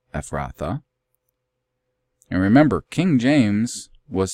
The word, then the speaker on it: Ephrathah: You just put that E at the end, Ephrathah.